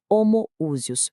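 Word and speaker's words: homoousios: E essa palavra foi homoúsios. Pronúncia clara.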